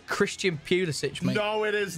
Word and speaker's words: Pulisic: It is Pulisic. Get the hell out of here. That's how you pronounce it.